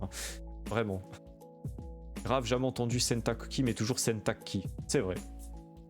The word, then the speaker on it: 洗濯機: Donc là, on voit sentakuki, à savoir que les Japonais bien souvent disent sentakki parce que c'est plus facile à prononcer.